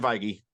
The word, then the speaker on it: Feige: make sure I pronounce that correctly did I pronounce that correctly yep Kevin feige Kevin feige Star Wars movie is officially dead and